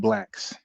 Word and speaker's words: BLAX: So my screen, you're looking at the word blacks. BLAX. And phonetically, it sounds like I'm saying blacks, like the color black with an S.